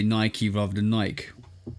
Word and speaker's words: Nike: Like there's a bunch of Ike words in the English language and they're all pronounced ike. like Mike Tikeke. You know what I'm saying? But Nike is the one difference that I've always known.